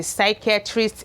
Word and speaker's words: psychiatrist: That is why we have the psychiatrist and not the P psychiatrist.